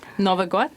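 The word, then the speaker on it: Новый год: So, Bonnie Morales, could you describe for us how your family celebrated, is it pronounced Novy God? Novy God, yeah.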